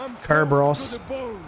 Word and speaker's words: Kerberos: So everyone else in most other languages that I know of will say it like the Greeks would, which would be with a K sound. So it's Kerberos, Cyclops.